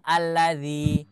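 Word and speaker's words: الذي: diawali dengan Hamzah wasal Kenapa kita baca alladzi Padahal kalau kita lihat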